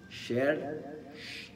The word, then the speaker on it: شر: للتخفيف من شر للتخفيف ولكن ان اردت الاتقان في القراءه وقراءه التجويد قراءه حقيقيه فان الراء الساكنه اذا ما قبلها مفتوح فانها تكون مفخمه وعندنا هنا راء ساكنه